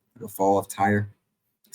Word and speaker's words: Tyre: parallels of Babylon to and we pronounce it, Tyre, Tyre, and it is pronounced Tyre, man.